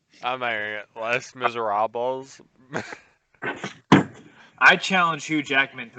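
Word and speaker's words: Les Misérables: of me neither um lace monsieur miserable what i can't we've said it 14 times the american way and the correct pronunciation less miserables i challenge hugh jackman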